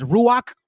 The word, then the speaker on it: Ruach: Did you know that the Holy Spirit we pronounce as Ruach?